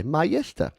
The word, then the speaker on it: Mayesta: The band name is pronounced English like the combination of Ma, the start of marmalade, and Yester, like yesterday. Mayesta.